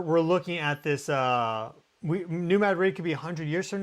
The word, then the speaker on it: New Madrid: People always like, "You're not pronouncing it correct." It's New Madrid, whatever, okay?